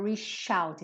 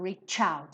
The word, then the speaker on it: reach: Lembrando que essas palavrinhas que terminam em CH, normalmente tem a pronúncia do tch, como se fosse um TCH, tá? Então não diga reach out, sim reach out, igual do tchau.